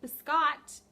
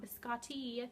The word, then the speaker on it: Biscotte: This is my Biscot somebody let me know that is pronounced biscotte and not biscotti. That's probably the American way to say it, biscotti. It is biscotte yarns.